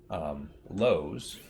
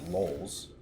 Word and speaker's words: Lowe's: I know, growing up, my dad always mispronounced, what was it? Lowe's. Always calls it Lowell's. Drives me up the wall. It's like, where are you getting the other L?